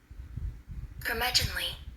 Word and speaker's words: curmudgeonly: The word is spelled C-U-R-M-U-D like David, G like good, E-O-N-L-Y. And this is how it is pronounced. Curmudgeonly. Curmudgeonly.